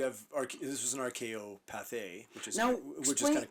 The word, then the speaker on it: Pathé: It's Pathé, like the French.